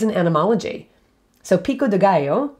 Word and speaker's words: gallo: word for rooster gallo g-a-l-l-o so in italian it's pronounced gallo so two else is